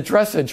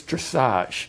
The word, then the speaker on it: dressage: And she did $160,000 in the dressage market, right? Which is not, right. It's dressage.